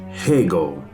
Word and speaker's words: Hegel: you to the man whose name rhymes with bagel hegel he had lots to